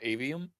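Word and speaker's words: Aveum: Immortals of Avium, I believe it's pronounced. Yes.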